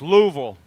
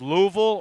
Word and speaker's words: Louisville: racing out of Louisville that's Louisville it's the capital of Kentucky pronounced Louisville or Louisville Louisville n it's Frankfurt